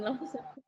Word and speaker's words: law: Kalau kamu bilangnya sister in law, berarti sisternya lagi sedih. Kan lagi low ceritanya, lagi sedih ceritanya. Jadi kalau misalnya maksud kamu adalah kakak ipar, ya sister in law, mother in law, studying law, itu dia harus panjang ketika O-nya panjang. Bukan panjang sih, lebih bundar gitulah ibaratnya.